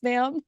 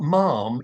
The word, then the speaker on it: ma'am: out recently, it's not mom, it's ma'am. It's yeah, I know it sounds like it should be mom, but it's Yeah.